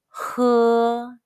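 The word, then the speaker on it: hē: drink in chinese attention although the spelling of h e is the same as he in the english word the pronunciation is hu pronunciation exercise for hussain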